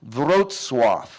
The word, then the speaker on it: Wrocław: It's pronounced Wrocław. Doesn't look like Wrocław.